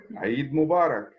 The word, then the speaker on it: Eid Mubarak: So first of all, Safi, Eid Mubarak. How do you say this right? Eid Mubarak.